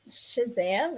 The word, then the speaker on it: Shazam: Okay, which is Shazam?